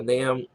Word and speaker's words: NAM: It rhymes with Cam. Funny thing is, the NAM is one of my favorites, especially with winter weather.